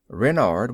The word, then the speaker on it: Renard: is king renard iv renard with the accent on the wren what's wren asked button